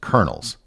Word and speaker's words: colonel: The word colonel has a very odd pronunciation given how the word is spelled.